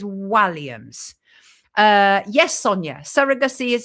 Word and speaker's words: Walliams: to him as Walliams, including myself, but it's Walliams.